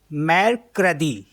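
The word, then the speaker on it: mercredi: ना तो वेनसडे को फ्रेंच में बोलते हैं मैर कदी एम अ एर से एर अ दे ई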